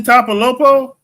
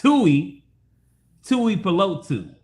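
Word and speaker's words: Tuipulotu: Tuli Tapalopo? Did that say? No, you just exited yourself, bro. No. What's not his name? how I you said say his name, bro. It's you better not. it's Tui Pelotu, and I hope the Chargers staff hear me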